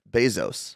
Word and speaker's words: Bezos: But it is Jeff Bezos. Like pesos. No, I would say like Baywatch. Zos.